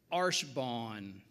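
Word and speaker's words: archebanc: I pronounce it like it's supposed to be pronounced, I believe, but it's spelled A-R-C-H-E-B-A-N-C.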